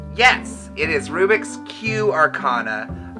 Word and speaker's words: Rubix Q: right yes it is Rubik's Cube Arcana a lot of people hear confusing say cube and it's like no it's a play on words the Q is for Queen yes that's